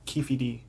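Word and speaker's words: Keffe D: Keefy D. Keefy D? Keefy D. Damn, I knew I was going to mispronounce something.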